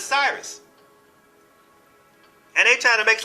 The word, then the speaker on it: Sirius: They pronounce it Sirius, but it's Cyrus.